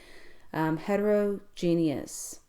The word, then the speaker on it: heterogeneous: Hetero means different, and then geneous is how you say the rest, and that part means kind, so different kinds together. Heterogeneous, and this is a